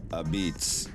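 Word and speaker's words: apizza: Region's Italian American Heritage a pizza originally pronounced abitz is derived from the Neapolitan dialect of Italian when Italian immigrants from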